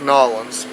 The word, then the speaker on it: New Orleans: But for anybody who doesn't know, New Orleans is pronounced Nolans.